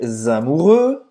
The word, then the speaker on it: amoureux: Não vai pronunciar esse x no final.